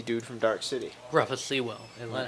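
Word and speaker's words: Sewell: vampire is the dude from dark city Ru seawell is how you say name roof the lazy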